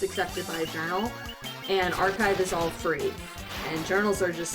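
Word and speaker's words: arXiv: But yeah, we have this preprint free archive of papers called Archive. Archive. Archive, yeah, it's spelled A-R-X-I-V. So the X is like the Greek letter chi, archive.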